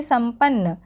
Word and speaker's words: संपन्न: कभी न होता है, तो संपन्न में हम इसका उच्चारण क्या कर रहे हैं, इसका उच्चारण हम म के रूप में कर रहे हैं, ठीक है। म का यहाँ पे उच्चारण हो रहा है आधा मठ।